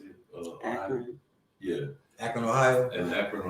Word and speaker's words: Akron: Akron.